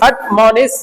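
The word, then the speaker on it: admonish: अडम निस बोलो अमोस अट मोनिस अनि देखो ये जो ना स्ट्रेस वर्ड है यहां पे लगा हुआ है मो पे ऊपर बोला अट मोनिस अनिस अमोनिट ठीक है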